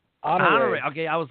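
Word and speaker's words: Honoré: Honore.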